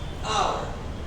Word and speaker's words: hour: क्योंकि L silent हो गया इसलिए hour, और यहाँ मिनट है तो a minute।